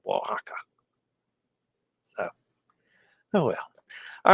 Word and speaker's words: Oaxaca: I didn't know that the oax in Spanish is pronounced wa Oaxaca and I should have